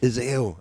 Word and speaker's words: Iseo: Is that a correct pronunciation? Iseo. I said it wrong earlier then.